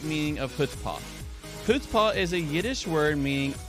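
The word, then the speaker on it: chutzpah: or that's fast oh it starts the H sound so the C is silent puts ha extreme self-confidence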